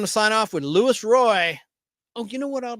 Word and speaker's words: Roi: So, here is Lewis Roy. His last name is spelled ROI like return on investment with his version of the American Space Giants theme.